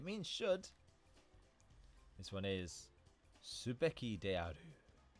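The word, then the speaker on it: すべきである: Then, can you remember the pronunciation of this one? It means should. This one is subeki de aru. Subeki de aru.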